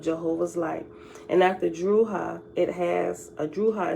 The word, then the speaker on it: Drujas: And after Druhah, Druhah is spelled Drujas.